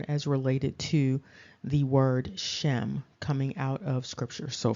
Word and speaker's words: Shem: related to the word Shem coming out of scripture so of course that name does exist and again it's pronounced phonetically as shame uh but the first